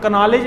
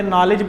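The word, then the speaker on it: knowledge: एक English style है कि हम कनॉलेज नहीं पढ़ते, नॉलेज पढ़ते हैं उसको, ठीक है।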